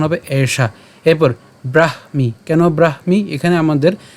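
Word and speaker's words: ব্রাহ্মী: স্থিতি পার্থ নৈনাং প্রাপ্যিয় বিমুহিয়তি স্থিতুয়া সিয়ামন্ত কালেপি ব্রাহ্ম নির্বাণ মৃছতি একদমই সহজ প্রথম থেকে একটু খেয়াল করি এটার উচ্চারণ কেমন হবে এশা এরপর ব্রাহমি কেন ব্রাহমি এখানে আমাদের যে যুক্ত বর্ণটি আছে এ যুক্ত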